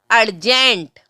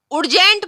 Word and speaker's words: urgent: ध्यान रखना, URGENT अर्जेंट है। इसमें मोस्टली सभी गलती कर जाते हैं, इसको अर्जेंट की जगह उर्जेंट बोल देते हैं, तो ये गलत है। इसका उच्चारण सही जो होगा वो अर्जेंट है।